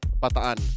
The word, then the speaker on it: Bataan: How do you pronounce that? Bataan.